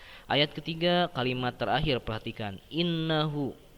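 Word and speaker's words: إِنَّهُ: Nah, ayat ketiga kalimat terakhir perhatikan, innahu. Nah, innya teman-teman dibacanya agak ditahan. Innahu kana tawwaba. Nah, ditahan ya innya.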